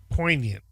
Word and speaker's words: poignant: what is it poignant poignant yep it means important p-o-i-g-n-a-n-t yep poignant all right poignant I do I know it's not pronounced the way it looks uh discover poignant history